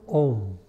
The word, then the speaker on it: Om: The first syllable is Om.